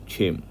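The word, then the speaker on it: क्षेम: सतस्थो नियोग छेम आत्मवान छेम छे क्या होता है श क्या होता है आधा क और श उसको मिला के छ बनता है [नाक से की जाने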